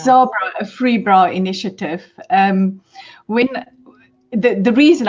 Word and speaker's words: Zabra: to pronounce it wrong. Zabra. Yeah. It's Zabra, Afreebra initiative.